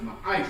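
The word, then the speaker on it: מעשר: Means 10th in the Hebrew and is pronounced ma'aisha.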